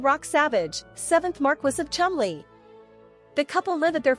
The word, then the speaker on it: Cholmondeley: Say it with me, the Marchioness of Cholmondeley, what a beautiful name," he joked, referring to Hanbury's formal royal title, pronounced Cholmondeley.